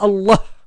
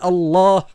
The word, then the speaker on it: Allah: Allah, il y a un mad, c'est-à-dire il y a une élongation, une prolongation, c'est pas Allah. Allah, ça n'existe pas, c'est Allah.